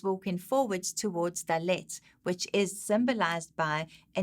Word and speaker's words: Dalet: So phonetically, it is D as in door. Duh. Do, Dalet.